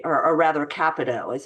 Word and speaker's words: Capito: Kevin Kiley was one in the House of Representatives, and Senator Capito, I think her is how you say, or rather Capito is how you say her name, was also providing that information to the public as well.